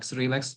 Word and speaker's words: Cyrilix: So I like to pronounce it like Cyril, like Cyrilix, but you can pronounce it however you like.